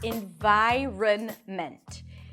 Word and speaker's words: environment: let's break it down the first syllable is in LAX e and then an n in then a v sound and the long i as in my that's also the primary stress so this syllable is going to be longer louder and higher in pitch in VI and then run an r a schwa and an n in viren and then mint and